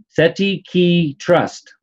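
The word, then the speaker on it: cestui que trust: Well, phonetically, it's SETPEEKEE trust. Now, in Latin, it's CESTUEQUETRUST.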